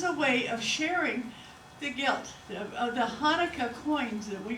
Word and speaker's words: gelt: And when they were gambling with the dreidel, they had what they call gelt. That's G-I-L-T, not G-U-I-L-T. It's G-I-L-T. Gelt. And sometimes it's spelled G-E-L-T, but it's pronounced gelt.